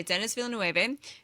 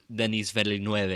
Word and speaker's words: Denis Villeneuve: I say this as a reformed Denis Villeneuve because I'm like, yeah, I speak Spanish. This is how you say it. And then Really? You were saying his name wrong the entire time? Yeah, and then I was like, oh, he's French Canadian.